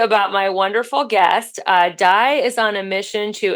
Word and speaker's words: Dai: both ways but uh I usually pronounce it my Welsh form and uh it's weird